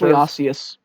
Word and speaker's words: Dunkleosteus: Does a Dunkleosaurus or Dunkleototus, whatever the giant fish is, Dunkleosteus. that's how it's pronounced? Yes.